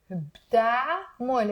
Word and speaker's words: بتعمل: شو عم بتعمل. So notice here, I didn't say بتعمل. It's two syllables.